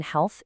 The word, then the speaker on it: health: That silent A in health isn't random. It's a visual clue tying it to the word heal.